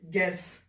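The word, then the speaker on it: guess: ठीक है, देखिए ये लिखा हुआ है जी यू ई डबल एस लिखा है भाई, यू हमने साइलेंट कर दिया, तो इसको क्या पढ़ेंगे, गैस।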